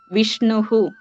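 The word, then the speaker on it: വിഷ്ണുഃ: ഇങ്ങനെ അച്ചിൽ അവസാനിക്കുന്ന അല്ലെങ്കിൽ സ്വരാക്ഷരങ്ങളിൽ അവസാനിക്കുന്ന പദങ്ങളാണ് നമ്മൾ ഇതുവരെ പറഞ്ഞിട്ടുള്ളത് അപ്പോ ഈ ബാലഹ എന്ന്വെച്ചാൽ ഹ അതിന്റെ ഉച്ചാരണം എങ്ങനെയാ വരുന്നത് അവസാനം അ എന്നാണ് വരുന്നത് രവിഹി ഇ എന്ന് സ്വരത്തിൽ അവസാനിക്കുന്നു വിഷ്ണുഹു ഉ എന്നുള്ള സ്വരം ഉച്ചാരണത്തിൽ അങ്ങനെയാണ് വരുന്നത് അപ്പോ ഇതിനെ അജന്ത ശബ്ദങ്ങൾ എന്ന്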